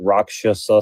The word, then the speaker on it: rakshasa: And they call them like rakasha in like Sanskrit. They say it like rakshasa.